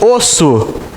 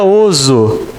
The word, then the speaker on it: osso: É por isso que eu não escrevo assim, gente. Eu escrevo assim, osso. Porque aqui está entre 2 vogais. Senão ficaria oso.